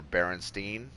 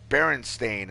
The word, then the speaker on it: Berenstain: but most of us remember Berenstein or Berenstein, like that's how I remember it. And then when all of a sudden I'm seeing people like, no, it's Berenstain, and I'm reading it, it actually is spelled that way.